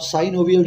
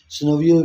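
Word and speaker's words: synovial: इनको आप साइनोवियल joints भी प्रोनाउंस कर सकते हैं, सिनोवियल जॉइंट्स भी प्रोनाउंस कर सकते हैं, आपकी मर्ज़ी है।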